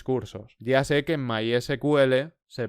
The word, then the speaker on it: MySQL: En el siguiente capítulo empezaremos a instalar uno, en concreto MySQL, mediante el cual haremos una gran parte de las prácticas iniciales del curso.